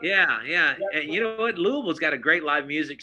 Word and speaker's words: Louisville: If you notice, I said it right, Louisville. Yeah. Louisville. Yeah, we stay Louisville.